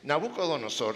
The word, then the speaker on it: Nabucodonosor: Osor, Nabucodonosor. Va a tocar que Hania me pongas un letrero aquí, así se pronuncia.